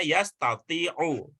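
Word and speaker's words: يستطيع: Nanti ingat ya, kalau kita bertemu dengan kata yang begini, walaupun barisnya tidak ada, nanti bacanya yastati'u. Ya.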